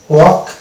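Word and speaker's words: walk: যেমন এই যেটা এ এল কে আগে ভাইল আছে এ, তাহলে এটা এল সাইলেন্ট হয়ে যাবে, অর্থাৎ এটা হবে টক, অনুরূপভাবে এটা হবে চক, ওয়াক, ইয়ক, ফক।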